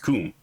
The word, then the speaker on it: cum: And unironically, no, like the Latin words, the Latin word for with is pronounced cum, right?